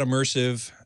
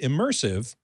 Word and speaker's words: ImmersAV: and I must say it's pronounced just like the word immersive but it's spelled i-m-m-e-r-s